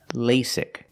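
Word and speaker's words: LASIK: lasc surgery first pronunciation lasic the first vowel is a long a like say and day Le lasic the second vowel is a short I sound like this is lasic lasic surgery pronunciation surgery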